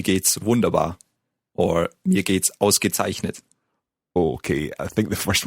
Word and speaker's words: ausgezeichnet: Ausgezeichnet. Let's take it syllable by syllable. The first word, the first syllable? Aus. Gezeichnet. Zeichnet. Ausgezeichnet. Yeah, very good.